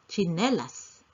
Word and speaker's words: tsinelas: look at that word tsinelas although it is spelled with tsi we pronounce as chinelas.